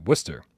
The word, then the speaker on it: Worcester: Pronounced Worcester. Yeah, Traveling Man 3775, Worcester, Mass. There's no R. Even though there's 2 in the word, we don't pronounce either one of them.